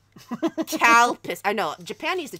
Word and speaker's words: Calpis: It looks like Calpis. Not cow pee pee. Calpis.